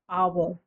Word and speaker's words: hour: So कुछ words होते हैं जिसमें h is silent, initial letter h. जैसे कि an hour.